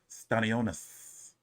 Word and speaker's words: Stanionis: They was getting on me my first Stanionis video because I didn't know how to pronounce his name, but I got it now. Stanionis.